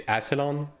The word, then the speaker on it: Asselon: It's Asselon. That's what I'm saying. Bro. Asselon is correct, right? Like, I'm right in that.